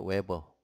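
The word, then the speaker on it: Weber: 다니는 웨버 이렇게 쓰고 읽을 때 웨버 웨버 라고 읽어요 웨버 사람 이름이 야외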